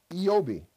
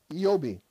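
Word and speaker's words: איוב: And listen, the name Job is from a Hebrew word which is pronounced Eobi. Eobi.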